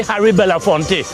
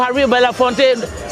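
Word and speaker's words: Harry Belafonte: When Americans say about Calypso, they always say harafonte. No, Harry Bellafonte.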